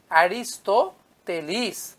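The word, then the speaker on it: Αριστοτέλης: অ্যারিস্টটলকে বাংলায় আমরা লিখি অ্যারিস্টটল, কিন্তু যদি গ্রিক উচ্চারণ অনুসারে লিখতে যাই তাহলে লিখতে হবে অ্যারিস্টোতেলিস। He wrote in 4th century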